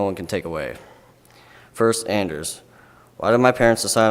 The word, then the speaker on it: Anders: something that no one can take away first Anders why did my parents decide on Anders and why isn't it pronounced onder's my ancestry is Norwegian Swedish Croatian German Austrian